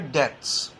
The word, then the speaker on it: debts: Owner along with other debts, capital of the owner along with other debts, DEBTS, debts मतलब उधार, ठीक है, DEBTS, B silent रहता है, DEBTS.